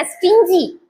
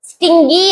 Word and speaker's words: stingy: இது எப்படி ப்ரொனவுன்ஸ் பண்ணணும்? ஸ்டிஞ்சி, ஸ்டிஞ்சின்னு ப்ரொனவுன்ஸ் பண்ணணும். Even Google dictionary pronounce it wrongly. இத தப்பா தான் ப்ரொனவுன்ஸ் பண்ணுது. ஸ்டிங்கி அப்படிங்குது கூகுள் டிக்ஷனரி கூட. அதை ஃபாலோ பண்ணாதீங்க.